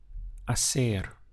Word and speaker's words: hacer: The verb to do is hacer. You can see in the spelling we have an H, but in Spanish pronunciation, the H is always silent.